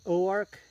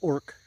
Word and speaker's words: Oark: been hearing me say Oar so it's it's like Ozark but without a z so o a r k and they pronounce it Oar instead of orc orc orc um so